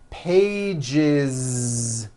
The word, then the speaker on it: pages: one page becomes two pages with that voiced Z two pages it's not two pages on voice no it's two pages with a voiced Z even though you spell